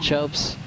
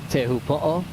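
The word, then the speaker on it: Teahupo'o: But sometimes in surf slang, the name of the surf spot, you'll still hear locals call it chopes or even chopu, but technically speaking, teu po uh with the village here uh with great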